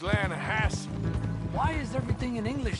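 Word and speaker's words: Lannahechee: rode down to the Lana Hetchy River I caught some beautiful steelhead trout you mean the Lana no no the lana hatch it runs right near here yeah for this pronounced Lana Hass why is everything in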